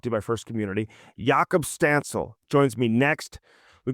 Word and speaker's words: Jakub: uh Jacob yakob yakob what's what's the correct pronunciation so the correct is yakob but you can say Jacob if you want to I'm gonna say yakob